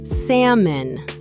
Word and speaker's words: salmon: The L is silent, pronounced salmon.